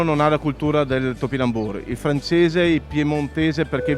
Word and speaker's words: topinambur: in mano è il topinambur lo pronunciano la francese allora questo era conosciuto